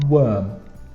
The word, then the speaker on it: worm: And worm is a little difficult to spell and pronounce. It's not warm, that's with an A. We spell it O-O-R, worm.